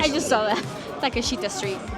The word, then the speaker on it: Takeshita: You got to help me with the pronunciation. saw that. Takeshita Street.